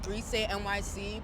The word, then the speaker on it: Grisé: My brand is Grise.Nyc. Please pronounce it right. Please add the accent on that, because if I was Beyonce, you do it too.